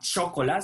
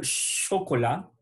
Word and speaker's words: chocolat: Le chocolat, ce n'est pas chocolat, sinon le chocolat. On ne prononce pas le T final, sinon qu'on dit le chocolat.